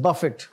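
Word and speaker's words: Buffett: miss pronounce करते हैं वह जो खाने वाला बफे होता है ना या बुफे उस तरह नहीं है यह दिस इज बफिट और इसके स्पेलिंग में भी थोड़ा सा फर्क है दिस इ वरन बफिट और आगे क्या लज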